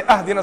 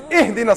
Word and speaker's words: ihdina: You better not say, ahdina sirat al-mustaqim, otherwise I'm gonna pound you. It's ihdina sirat al-mustaqim.